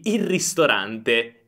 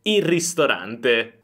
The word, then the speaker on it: il ristorante: So we mainly pronounce the "r", then "il ristorante", "il ristorante".